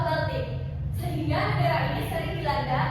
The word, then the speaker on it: Baltik: Bik. Nah, bisa bacanya ya. Ini yang benar adalah laut Baltik.